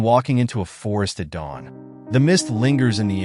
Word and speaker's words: Tao: in the universe is what taism refers to as the towel pronounced da or the way the